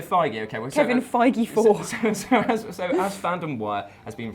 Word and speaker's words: Feige: the internet told me it's not phage it's not it's Feige but it's a shame